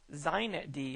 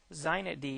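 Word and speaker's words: xinetd: primary super server in use on linux today zeinet d is that's how they pronounce this with an x x i net d or z knit d is pronounced predominantly used the configuration file for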